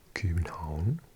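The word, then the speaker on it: København: So, this is Copenhagen. Or in Danish you say Copenhagen. Um because Hagen comes from the word for like a harbor, I think.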